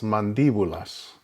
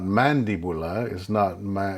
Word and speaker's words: mandíbula: Again, you can see where there is a written accent on the letter I, so that you know that that's where the emphasis is on that syllable. It's not mandibula, it is mandíbula. And so the accent is on the I.